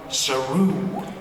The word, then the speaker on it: Saru: What you do is just singular, and I love what you've brought to Saru.